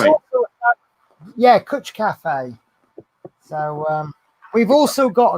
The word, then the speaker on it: cwtch: It's spelt with a W, CWTCH. Yeah. Cutch.